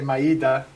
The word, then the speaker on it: Maeda: And because of that, one of the people whose name, it's pronounced many different ways. I say Maeda.